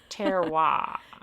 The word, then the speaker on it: terroir: I was hoping you would pronounce that because for some reason I have the hardest time with that word. Terroir.